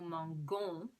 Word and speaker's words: mangeons: Because M-A-N-G-O-N-S is going to be pronounced mangon. So to make it mangeons, nous mangeons, you're going to have the E after the G and then add your ending, O-N-S. Nous mangeons. Okay, that E softens the pronunciation of the G.